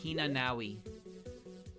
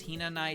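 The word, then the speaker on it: Hinanai: So early on, I called Tenshi Hina-nawi. Her name is Hina-nai Tenshi. I would call her Hina-nawi. I was like, yeah, that's gotta be how it's pronounced.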